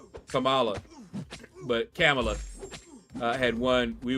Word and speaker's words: Kamala: I have a relative, and that's how we say her name, Kamala.